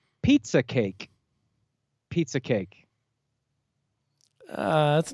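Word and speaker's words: Pieza kake: Pizza cake is spelled P-I-E-Z-A space K-A-K-E.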